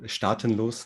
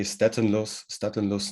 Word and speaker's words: Staatenlos: So in German it's said Staatenlos node. Okay. In English you would say Staatenlos node, something like that.